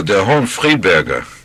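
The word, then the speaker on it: Der Hohenfriedberger: Pronounce it for me. Oh, Der Hohen Friedberger.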